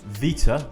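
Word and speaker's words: Βήτα: alabo Alpha is a Vita is B notice it's pronounced with a V gamma is G Delta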